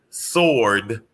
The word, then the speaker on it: sword: everybody to know that the w in sword is silent also okay and i was